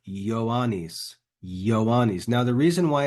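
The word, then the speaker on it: Ioannis: that one don't say joanis yanis in in Latin that letter that looks like a j is actually an uppercase I so really this name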